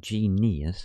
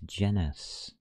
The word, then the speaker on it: genus: It's not genius, it's genus. Genaus, it's from the Latin.